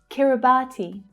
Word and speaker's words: Kiribati: Kiribati. The third syllable is the stressed one.